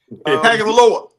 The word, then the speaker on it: Tagovailoa: I can never pronounce his last name, so I'm not even going to try. Tagovailoa.